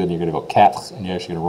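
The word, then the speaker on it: quatre: now this one is if I say it really slow it's two syllables cat cat that rolled R there is the second syllable the E is virtually signed so cat but if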